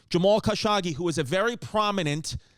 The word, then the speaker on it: Jamal Khashoggi: um Jamal how do you say his name Jamal kashimagi Jamal khashagi Jamal kashagi who was a very prominent sound you've heard